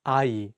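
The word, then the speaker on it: 아이: let's take the word AI which means child in this world the young in each syllable works as a placeholder and only the vowels are pronounced another example is the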